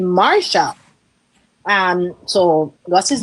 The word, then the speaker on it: Marcia: somebody was saying um she doesn't pronounce her name Marcia. She pronounces her name Marsha.